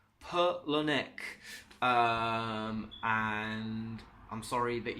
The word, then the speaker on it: Palahniuk: you out here T it is pronounced Chuck Palahniuk Pirlo Nick and I'm sorry but